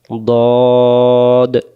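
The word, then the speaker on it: ضاد: দক্ষর মারির দাঁতের গোড়া থেকে মোটা করে পড়তে হয় দ অক্ষরের নাম দ আবার বলেন দ আরেকবার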